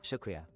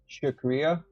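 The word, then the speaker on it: शुक्रिया: In Hindi is pronounced as Shakria. Shakria.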